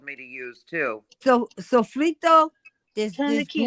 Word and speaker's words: sofrito: But there's another one that she was talking about, and I say it wrong. It's Sofrito. sofrito.